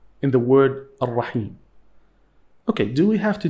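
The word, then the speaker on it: الرحيم: However, we have lam here. It is lam shamsiyya. We don't pronounce it. Remember, don't forget.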